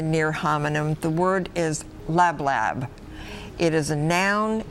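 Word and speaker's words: lablab: to use for food lab lab am I saying it correctly that sounds correct el a B la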